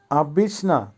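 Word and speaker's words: обычно: উচ্চারণ হবে উজে, উজে। আবিসনা, আবিসনার অর্থ হবে সাধারণত অথবা ইউজুয়ালি।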